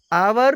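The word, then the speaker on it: hour: next example है आवर आवर में H silent है और इसका उच्चारण बवेल साउंड की तरह है इसलिए आवर के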